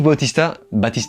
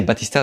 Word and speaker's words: Bautista: Dave Bautista, enfin quand j'étais petit on disait Batista, donc je sais pas si on prononce Batista ou Bautista, bref.